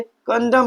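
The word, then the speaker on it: condemn: हम क्या पढ़ते हैं इसे? कंडम पढ़ते हैं। क्या पढ़ते हैं भैया? कंडेम। तो यहां पर भी हमारा एन क्या होगा? साइलेंट होगा। क्या होगा भैया? साइलेंट होगा। क्यों साइलेंट होगा? क्योंकि रूल कहता है कि जब भी एम के जस्ट बाद एन आया हो। एम के जस्ट बाद क्या आया हो? एन आया हो तो हमारा एन क्या होता है?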